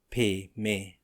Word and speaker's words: Padme: A is pronounced as in father, Padme, a contraction of Padme, sounds very much like Padme, P-A-Y-M-A-Y, except that the P comes rather close to being a B.